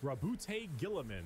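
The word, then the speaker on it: Roboute Guilliman: Allegiance, loyalist, Primarch, Rabute Gilliman.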